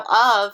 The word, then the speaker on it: of: this week is of notice how of has that V sound at the end but we see an F there which makes the F sound so this is why